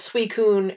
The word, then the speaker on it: Suicune: wrong and i fixed it because it was suicune and raiku and entei yeah yeah and yeah